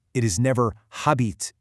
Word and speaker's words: habite: In French, the H is silent. It is never "habite", it's "abite".